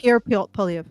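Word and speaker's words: Pierre Poilievre: Yeah, Pierre Polyev.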